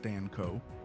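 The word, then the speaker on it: Stanko: In December 1998, the Montana Supreme Court ruled in State versus Stanco, pronounced Stanco, that reasonable and proper was unconstitutionally vague.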